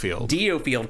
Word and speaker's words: DioField: DioField Chronicle. I only know that because that's how they say it in the game.